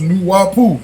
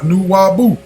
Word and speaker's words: Nuwaupu: "Nuwaupu is pronounced Nuwaupu, not Nuwabu."